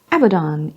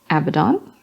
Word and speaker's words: Abaddon: us as a dentist Abaddon is Abaddon though some might pronounce it Abaddon which has a pleasing double meaning oh he's a bad in that one Abaddon Abadan macragge crag yep Acadia cat urchin cat surgeon he had a chin it says er but